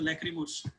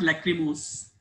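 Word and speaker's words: lachrymose: इसको basically pronounce ऐसे करते हैं, लैक्रोमो, मोस नहीं होता है, देखो नीचे लिखा है लैक्रोमो, ठीक है, इसका जो प्रोनाउंसिएशन है वो लैक्रोमो है, ठीक है, इट्स नॉट लैक्रिमोस, वी कैन से इट इन our local language लैक्रिमोस, ठीक है, बट इट्स लैक्रोमो, मोस, ओके।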